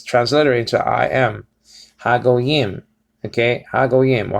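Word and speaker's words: הגויים: So is ha go yim. Okay, ha or ha go yim. Okay, ha go yim. Ha go says over here, and it says transliterated to I am. Ha go yim.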